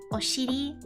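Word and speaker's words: お尻: But anyway, I'm sorry everybody for saying, how is it pronounced? Oshiri. Oshiri.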